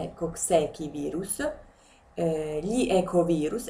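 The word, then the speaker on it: Coxsackie: genere appartengono diversi virus i koksaki virus o meglio Si si dice keki la pronuncia Cocchi virus Gli ecov virus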